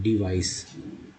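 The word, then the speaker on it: device: यंत्र, युक्ति या साधन को बोलते हैं डिवाइस, सीई को स उच्चारण करते हैं, डिवाइस।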